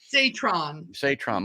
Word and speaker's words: Satrom: How do you pronounce that? Satrom? Satrom.